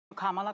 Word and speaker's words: Kamala: it perhaps but without too much further ado comma because for all of those who are mispronouncing it I want you all to know